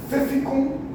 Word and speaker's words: Pfäffikon: A fundação dela foi, a matriz aliás, é na Suíça, em Pfäffikon, é assim que pronuncia, e nós temos 12.600 funcionários, 207 locais em 38 países.